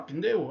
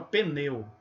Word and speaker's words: pneu: Então a gente, em vez de colocar pneu, a gente coloca pneu, botando esse E.